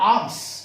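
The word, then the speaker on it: alms: और आर्म्स, इसमें L silent है, ये एल जो है ना साइलेंट है।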